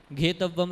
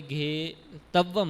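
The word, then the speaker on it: घेत्तव्वं: तो आखिरी में एक घेतव्वम शब्द आया था, है ना। तो वहाँ पर ता में आधा ता और था, तो अकेले घे तव्वम नहीं, घे तव्वम, तो आधा ता और का उच्चारण होना था।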